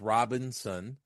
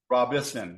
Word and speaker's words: Robison: you know normally it there's there's an n after the I right so it's Robinson like yeah but but you're Rob Robinson Robison yes correct Robinson yeah so it's